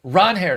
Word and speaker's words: Ranger: Anyway, Ron Her Suárez BBRef needs to get